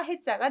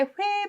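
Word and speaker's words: 悔: 그래서 다시 하겠다고 회개하고 후회하고 회개하고 후회하는데 비슷한 한자 중에 물수를 쓰면 이건 바다 해자가 되죠. 그래서 마음이 있어야 후회입니다. 해 발음 여기서는 완전히 다르게 회 발음 조심하셔야 됩니다.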